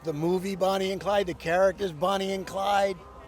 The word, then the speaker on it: Bonnie X Clyde: Like how would you pronounce it? BXC. We we say BXC or Bonnie and Clyde.